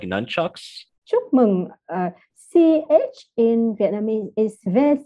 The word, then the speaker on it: chúc mừng: this U sounds like the oo in moon, right? It is more like the in book, the short o sounds in English. Chúc mừng năm mới. Okay. So chup mung num mới. Am I saying it right? Okay, you say correctly.